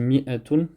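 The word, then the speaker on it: مائة: Miatoun il s'écrit comme ça d'ailleurs avec un avec unif ici mais qui se prononce pas. Donc on dit miatun mais il est possible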